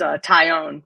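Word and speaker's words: Taillon: I think it's Herman, and it's Tyone, Jameson Tyone, like a tie that you own.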